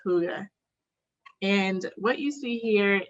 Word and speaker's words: hygge: Hygge, even though it's spelled Hygge, it's pronounced hygge.